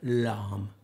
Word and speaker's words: lame: is it's a bread lamb spell blame l-a-m-e but it's pronounced la what do you use